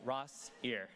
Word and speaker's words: Rossier: mirror and i finally i think i got it right ross here two syllables speaking of celebrating i